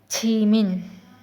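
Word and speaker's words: 지민: फिर ई फिर एन छी मिन जिमिन इंग्लिश में जिमिन और क में ी मिन ी मन स्पेलिंग की हो सकता है कि चेंज हो कहीं भी बट जो प्रोनंसिएशन होगी छी मिन छी मिन क्या लिखा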